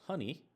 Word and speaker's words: HNI: heritable non gentic information is abbreviated hni and is pronounced honey because I think it